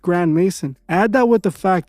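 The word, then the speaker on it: Grandmaison: Even his last name is suspicious, as it's pronounced Grand Mason.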